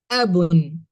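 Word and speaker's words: أب: You say abun or just say ab. By default, each noun has a tanween on top of it.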